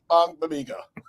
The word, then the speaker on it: Ogbogbemiga: ends Daniel Hardy and Dominique Robinson, linebacker Eamon Ogbogbemiga. I know Aldo will never be able to pronounce that. Nope. It's Ogbogbemiga.